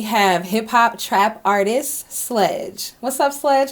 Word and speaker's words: Slxdgx: great I'm doing great your name is interesting not because of sledge but how it's spelled explain that so the reason why it's spelled SLX dgx is cuz originally with Sledge someone took that name so I ended up taking the ease and making them exit and really so I